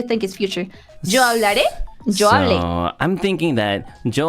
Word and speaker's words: hablé: So if there's an accent on the if there's an accent on the right, then the one before is like unaccented. Okay, so yo hablé.